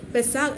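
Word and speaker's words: Pesach: പെസഹ എന്നാണ് നമ്മൾ പറയുന്നത് പക്ഷേ ഹീബ്രുവില് പെസാഗ് എന്നാണ് പറയുന്നത് സ്പെല്ലിം പി ഇ എസ് എ സി എച്ച് പെസാഗ് എന്നാണ് അതിൻറെ ഒരു ഉച്ചാരണം വരുക അതിന്റെ അർത്ഥം ഞാൻ നേരത്തെ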